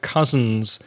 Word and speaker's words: cousin: spelling cousin I have cousins in the UK I have many cousins in the north of England so Co us i n the pronunciation is cousin now the next group